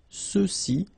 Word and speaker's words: ceux-ci: masculine plural, ceux-ci, okay, remember final X is not pronounced, so you get the sound ce, ceux-ci, and then ceux-là.